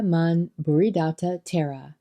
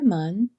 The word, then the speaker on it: Mun: quest for self-transformation although acharya man and in parentheses that says pronounced to rhyme with son left no written record